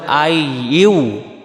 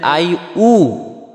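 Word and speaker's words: أيها: ইয়া আর এখানে ইয়াটাও এখানে বলতে হবে আই ইউ আই ইউ আর যদি বলি আই উ তাহলে হামজা পেশ উবে ইয়া পেশ হয় ইউ আর আমাদের উচ্চারণ হয়ে যাবে আই উ তাহলে এটা ভুল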